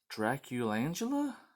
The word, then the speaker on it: Draculangela: sure everything's facing the right way this is draculangela that's how you pronounce it so there's one cover oh it